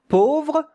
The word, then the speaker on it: pauvre: Pauvre, A-U. These two letters make the sound O, not O. O. Pauvre, pauvre.